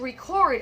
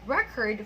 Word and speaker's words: record: Number seven, the producer wanted to record a new record for his latest artist. Okay, so the first one there is a verb, and the second one is a noun.